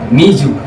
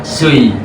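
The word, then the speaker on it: 水: Cara bacanya Mizu. Mizu. Atau mungkin bisa dibaca sui.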